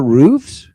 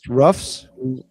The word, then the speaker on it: roof: The Ruthless without roofs? They have no roofs? Or as Joe says, roughs? The thing that goes that covers your house, the top. It's pronounced roof, but Joe Cronin says rough.